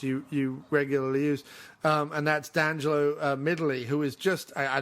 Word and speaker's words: D'Angelo: of the cast you regularly use, and that's D'Angelo Midili, who is just, I don't know if that's how you pronounce his name, D'Angelo, is it? D'Angelo Midili? Yeah, it's D'Angelo.